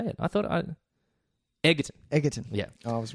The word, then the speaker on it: Egerton: I thought Egerton.